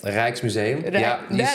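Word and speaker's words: Rijksmuseum: classic music at the reiches Museum did you say it right reich's Museum perfectly yeah that one so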